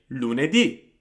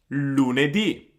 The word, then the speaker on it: lunedì: So we would say lunedì, lunedì. So as you can see, the E there almost disappears. I mean, of course it does not disappear, but it's much shorter than the U or the I at the end.